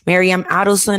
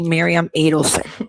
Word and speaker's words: Miriam Adelson: But yet I'm going to correct you on the pronunciation because you said Miriam Adelson and it's actually Miriam Adelson, right?